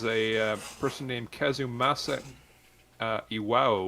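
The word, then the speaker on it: Iwao: person named kazumasa uh IW which is i w AO yeah that's I believe that's the right pronunciation I I and uh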